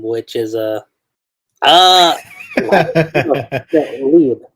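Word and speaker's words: Liebe: name, which is uh Lieb. I think it's either Lieb or no Libe. There we go. That's how you say it. Libe.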